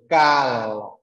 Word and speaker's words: Cal: Rồi, cal, cal, cal, mình luyến lưỡi âm l cuối.